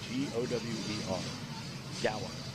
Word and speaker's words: Gower: Chance Jackson, and Lexi Gower, G-O-W-E-R, Gower. Gower's got the power.